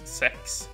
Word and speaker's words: sex: positive 6 fun factor in Swedish the you know number 6 actually it's pronounced sex believe it or not yeah